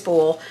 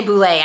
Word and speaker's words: boule: I am going to actually be making our sourdough boulé, I think is how you say, or boule. I think it's boule. I say boulé. I know that's not right, but because it's the easiest, it's the tastiest.